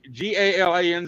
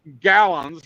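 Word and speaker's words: Galanz: galons g a l g a l a n z it's pronounced gallons it's not French it's not Galan it's not all fancy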